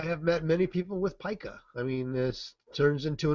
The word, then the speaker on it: pica: It's pronounced pica.